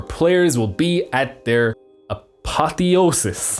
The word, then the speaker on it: apotheosis: will be at their apotheosis that's how you pronounce it here's the Google man